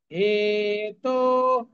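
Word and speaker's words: হেতোঃ: হেতো, হে এবং তো দুটোই দীর্ঘ, বিসর্গের পরিবর্তে আমরা খয়ের মতো উচ্চারণ করব।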